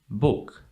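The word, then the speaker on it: bok: also in French bush in Swedish it's book book okay so the O is pronounced as o book and in Dutch well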